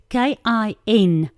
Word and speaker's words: kinsman: so the kingsman redeemer it's spelt like this k-i-n-s-m-a-n kingsman not king k-i-n-g right who's your next of